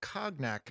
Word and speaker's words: cognac: And we find out that next month is a book called Snake Bile Cognac, but we're not going to be reading Cognac.